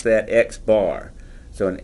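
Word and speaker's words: x̄: the notation bother you an X with the horizontal line above it it's pronounced X bar and it's the mean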